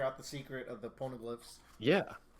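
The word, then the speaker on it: poneglyph: chapter for her because she searched for that pornoglyph is that the right pronunciation yeah yeah sorry i'm dying um we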